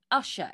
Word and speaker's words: Ushaw: So, do you live near Ushaw? Is that how I'm pronouncing it? Yeah. Ushaw.